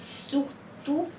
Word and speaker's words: surtout: As letras D, S, T, P no final de uma palavra em francês não são pronunciadas.